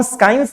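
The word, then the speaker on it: science: इसमें आप देख रहे हैं कि एस के बाद जहां पे भी सी आया है, इसका प्रोनाउंसिएशन हम नहीं कर रहे हैं। इसको हम साइंस नहीं पढ़ते हैं, इसको साइंस पढ़ते हैं। इसको भी हम यहां पे भी, ये सी क्या है आपका? साइलेंट है। यहां पे भी सी क्या है? साइलेंट है। यहां पे भी सी साइलेंट है।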